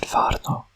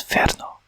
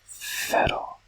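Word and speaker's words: φέρνω: We said farno, but actually it was ferno. Ferno. Yeah. Ferno. But there's an alternative pronunciation. Ferno or ferro, I think.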